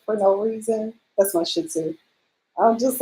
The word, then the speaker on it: Shih Tzu: Shih Tzu. I know how to spell it. SHITZU, Shih Tzu. SHIH. There's a T in there somewhere. T. The second word is. Okay, the H is silent. Shih Tzu.